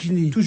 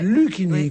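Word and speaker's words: Luchini: est Fabrice et vous vous l'appelez Lini c'est Luini qu'on doit dire car prononcé à la italienne à l'italienne nom italien à l'allemande des noms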